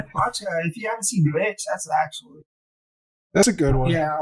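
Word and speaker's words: VVitch: Watch Witch. It's like spelled like VV. Yeah. ITCH, but I don't know if it's Vitch. W. Bitch. Yeah, I think the V's are supposed to make a W.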